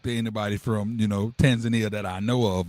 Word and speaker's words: Tanzania: Tanzania, that's how you pronounce it. Tanzania.